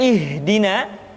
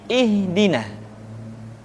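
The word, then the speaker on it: اهدنا: Perhatikan huruf ha seringkali diucapkan dari dada. Ha. Ingat, di dalam makharijul huruf kita tidak mengenal pengucapan huruf-huruf dada. Tidak ha, tetapi ha. Tidak ihdina, akan tetapi ihdina.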